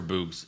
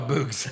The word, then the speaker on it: Boogs: For Boogs? Eric Bugenhagen? Oh, now he's just, Bugenhagen. now he's just boobs? Boogs. Oh, boogs.